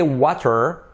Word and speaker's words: water: that very important letter, T becomes a soft R. You could say water, but then I recommend you get used to saying water.